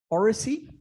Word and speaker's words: oracy: Oracy? Oracy. Oracy. O-R-A-C-Y. A-C-Y. Oracy. As in oral. Oracy.